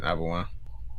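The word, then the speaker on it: Auberjonois: You can't pronounce that correctly. Yeah, that's it, Arbenois.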